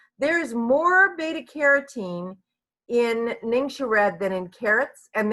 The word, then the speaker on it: NingXia: with this even today so this is kind of phonetically uh sounding it out it's ningxia ningxia red some people say ningxia